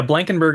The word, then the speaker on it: Blankenburg: Uh, yeah, Blankenberg is generally the way I pronounce it.